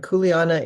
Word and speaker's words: kuleana: in this year and kuleana is a that's k-u-e-l-a-n-a there's pronounce every dang vowel and there's never two consonants in a row kuleana um and it